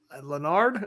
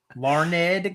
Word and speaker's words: Larned: Wrestling Express over in Leonard I said it wrong Larned Garnett Kansas Larned Kansas